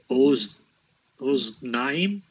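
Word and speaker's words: אָזְנַיִם: This is a closed syllable with a short vowel. Yes. So it would be oznaim.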